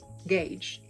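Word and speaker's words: gauge: say go g g go whatever but not Gage which is the correct pronunciation of the word they know the word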